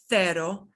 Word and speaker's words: cero: In Spain, it sounds like the TH of the. So in Spain, all these words will be pronounced cero, centro, centavo, tita, bici, ciento, cielo.